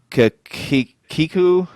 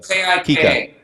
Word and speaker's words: Kika: Natural Born Hunter, Instagram, Phil Mendoza, Geoff Rowley, Kiku. Is it Kiku the Instagram account? Yeah. I follow it, but I can't remember I don't know how to pronounce it. Kika.